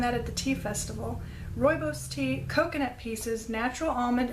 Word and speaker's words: rooibos: tea rooibos tea I found out how to pronounce that I learned that at the tea festival rooibos tea coconut pieces natural almond essence love and